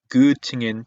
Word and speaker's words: Göttingen: 슈투트가르트 그리고 특히나 이렇게 끝나는 도시들 있죠. göttingen, tübingen 이런 도시들 전부 다 괴팅겐 하는 게 아니고요. göttingen이고요. tübingen입니다. tübingen 하지 않아요. 그리고 옴라우트 읽을 때도 마찬가지 괴가 아니고 그팅엔 그죠?